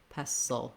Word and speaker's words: pestle: sound the l is basically a syllabic l so no vowel for that either going quickly from the s right into the l i wrote it here with letter u because if there's any vowel at all it's going to be a schwa like a pestle pestle or even an if sound if the word sill is easy for you basically just make sure the tongue lifts for that dark l at the end mortar and pestle